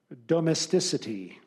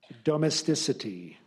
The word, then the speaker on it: domesticity: Your word is domesticity. Domesticity. Alternate pronunciation, domesticity.